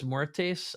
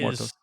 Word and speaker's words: Muertos: And by the way, Dia de los Muertes, I hope I said that right, Dia de los is Muertos.